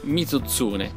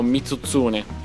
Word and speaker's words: Mizutsune: e la matsum magatsuchi il nome occidentale mizutsune sarà piuttosto da pronunciare per noi italiani che con le Z ci andiamo sul pesante e 99 su 100 lo leggeremo mutun prepariamoci a visite dallo